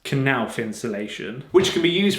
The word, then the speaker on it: Knauf: It's pronounced Knauf insulation, which can be used for acoustic insulation and heat insulation.